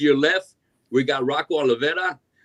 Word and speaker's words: Olvera: Off to your left, we got Rocco Olvera right there in the middle. Did I pronounce that right? That's Olvera. Close enough, man. It's all right. Olvera.